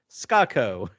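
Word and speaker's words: Skako: spelled s-k-a-k-o and scott it's spelled ska like it's spelled like the music genre which is my favorite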